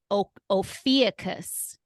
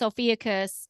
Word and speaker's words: Ophiuchus: Ophiuchus.